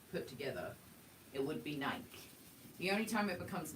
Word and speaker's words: Nike: true I mean but that you know Nike pronounces it Nike you have to pronounce it however they say